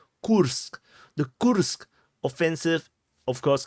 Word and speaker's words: Kursk: the back foot so the Cur curse the the correct correct pronun pronunciation is ksk the ksk offensive of